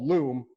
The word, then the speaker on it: Loom: One tool that I encourage you to check out that I use all the time, it's called Loom, rhymes with Zoom, and it is a Chrome plugin that lets you record yourself and whatever your desktop, whatever is on your desktop.